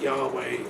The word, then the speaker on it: Yahweh: Yahweh is the proper pronunciation.